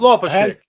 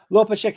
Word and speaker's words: Łopaczyk: Łopaczyk. Łopaczyk.